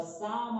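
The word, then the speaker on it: psalm: ध्यान दीजिएगा विद्यार्थियों, the above noted stanza has been taken from the poem the सम of life. P silent होता है इसलिए इसे साम पढ़ते हैं, द सम ऑफ लाइफ।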